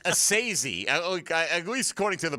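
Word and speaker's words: Esezi: It's Assisi, at least according to the pronunciation guide. The first name is easy, right? It's like and then S-A-Y in bold letters. That's like what you stress. Assisi.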